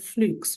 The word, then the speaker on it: Fluke: be Whitehead mitchley and flukes which is now pronounced fluk the next infusion of